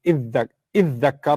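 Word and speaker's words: ادّكر: The ta and the dhal from pronunciation, ta and dha are from the same part of the tongue. Your tongue moves to the front of the mouth when you pronounce them. And what happens is there's a fusion. It's called idgham in Arabic. So tadhakkara becomes iddakkara or iddakkara.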